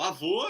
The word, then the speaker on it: avô: O avô é o O fechado e a avó é o O aberto. Aham. Então, avô e avó.